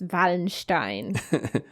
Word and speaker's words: Wallenstein: Excuse me, I am German. It is pronounced Wallenstein.